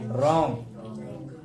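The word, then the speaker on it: wrong: डब्लू के बाद आर आता है तो डब्लू साइलेंट रहेगा, डब्लू साइलेंट रहेगा।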